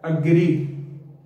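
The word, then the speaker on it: agree: लेकिन ये एग्री total गलत है, इसकी जो करेक्ट प्रोनंसिएशन है ना वो है अग्री, नॉट एग्री, अग्री, अग्री। हम इसको ऊपर को लंबा ज़रा साउंड निकालें, अग्री, अग्री, शी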